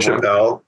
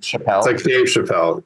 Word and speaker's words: Chapelle: de Lan obrian forelle Chapelle like Chappelle it's the same pronunciation same pronunciation um 115 that didn't